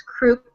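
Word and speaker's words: Kreuk: pronounce her last name i think it's crook k-r-e-u-k she was in smallville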